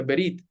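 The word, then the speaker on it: ברית: Esa palabra pacto en hebreo es una palabra que se pronuncia verit, pero básicamente decía que toda la Biblia se trata del pacto.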